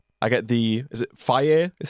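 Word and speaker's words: Fage: need a little bit a little bit of fat in my life you know for the for the flavor and so 5% fat I get the is it fire is how they pronounce it f a g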